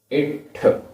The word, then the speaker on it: इट्ठ: इट्ठ इट्ठ आधा ठ इट्ठ वियोगम वियोगम दुःखम आधा ख दुःखम इट्ठ वियोगम दुःखम।